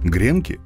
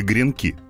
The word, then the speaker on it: гренки: поджаренные ломтики белого хлеба старых изданиях словарей правильном считалось произношение с ударным последним слогом гренки эта форма множественного числа существительного гренок поэтому во всех формах этого слова ударения ставили на гласный после и к green com гренков гренками постепенно слова гренок устаревало и разговорная гренки стали упоминать в современных словарях как равноправный вариант произношения следовательно в единственном